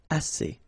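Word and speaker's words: assez: enough okay a remember two vowels here a and then uh and then double s so it's really strong the s a assay okay assay so same construction the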